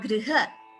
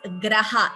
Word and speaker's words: गृह: This is G plus R. So that's a Gunitaksharam. Griha, like Krishnaha, Kripa. So it's similarly, it is Griha. Please do not chant it as Graha.